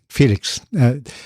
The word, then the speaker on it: Félix: My name is Spanish, so it's Félix. Félix, with a little accent. But if it were French, it would be Félix, right? It's Félix. Félix, they pronounce the X. Félix, the X is pronounced.